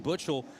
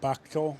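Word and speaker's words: Buchtel: I believe it is Butchel. Yeah, it's not Buckl.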